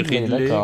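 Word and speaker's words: Ridle Baku: Et doublé de, alors je sais pas comment le prononcer, Riedel Baku. Ridley. Alors on dit Ridley, mais c'est pas son vrai prénom en fait. C'est un hommage à Karl-Heinz Riedel.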